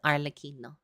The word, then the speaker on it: Arlecchino: get started with the arino story or arino I think actually it's pronounced I've been informed by an Italian it is pronounced arino uh just more of an Italian accent not my crappy ass